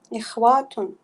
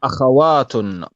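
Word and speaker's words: أخوات: Ikhwatun. No, we don't say ikhwatun. Ikhwatun means brothers. Yeah. Yep. What's the plural of sister? Akhatun. So we say akhawatun back on page Akhawatun.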